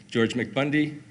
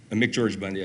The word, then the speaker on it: McGeorge Bundy: He calls George McBundy. George McBundy, McGeorge Bundy, I say it wrong sometimes.